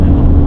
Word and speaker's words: Mannum: How are you pronouncing Mannum? How would you spell Mannum? M-A-N-N-I-N-G. Okay, it's Mannum.